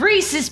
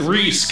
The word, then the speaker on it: Reese: go ahead hush ah it rhymes with reese's pieces reese i i don't think it rhymes i think it just is that's a slant rhyme oh cause it's spelled a little bit different go ahead hot wire